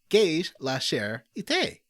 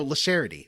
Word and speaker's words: La Charity: Spaghetti, Butts on Parade, Gage La Cher Ite. Oh, La Charity, sorry. La Charity. I'm not pronouncing it the way he's telling me to pronounce it. It's La Charity.